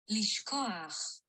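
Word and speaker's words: לשכוח: Lishkoach. Yeah, lishkoach. Lishkoach. Lishkoach. There it is. Notice that it's got that het there, which is kind of these inverted het kind of thing.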